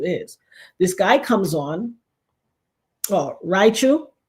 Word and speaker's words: Raichu: This guy comes on Raichu is how you pronounce. Okay. Raichu and thank you Michael